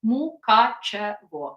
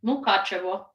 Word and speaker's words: Mukachevo: Mukachevo. So it's mu, like moo, ka, like K-A-H, ka, che, like Che Guevara, vo, like Mukachevo.